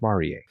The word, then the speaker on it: Marie: bad the big bad it's spelled Marie yep yes but they say Maria so that a lot